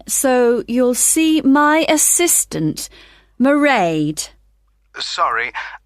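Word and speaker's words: Mairead: you'll see my assistant morray sorry how do you spell that it's m a i r e a d marade okay got that it's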